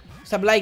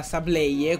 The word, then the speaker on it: Sableye: Sableye che ci ho messo tipo secoli a capire che non era Sableye, come lo pronunciavo io da piccolo, ma...